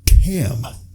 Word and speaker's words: Cam: I say Cam. Hearing that, how would you presume it's spelled? Either CAM or KAM. I've had it spelled KEM. Chem? Kem. I've had one person just straight up thought I said Ken.